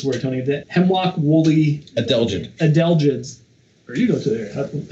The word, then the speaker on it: adelgids: We mourn the ones that did take hold, like the, help me pronounce this word, Tony, the hemlock woolly... Adelgids.